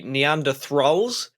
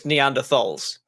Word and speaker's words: Neanderthals: I want to say Neanderthals, but I know it's Neanderthals. Does that make any sense? My brain always puts an R in it, and I don't know why.